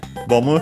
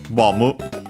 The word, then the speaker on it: ボム: Let's see if we can find there the pronunciation, the accent of Bomu. Even though, if we can't find it here anyway, it's most likely accented just like in English, so on the bo.